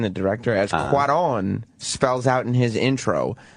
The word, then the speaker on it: Cuarón: Eric Weber of NECN writes, as Cuarón, that's how you say his name, the director, as Cuarón spells out in his intro, life in space is impossible.